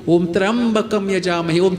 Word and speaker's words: Trayambakam: Om Trambakam Yajamahi. Om Trayambakam Yajamahi.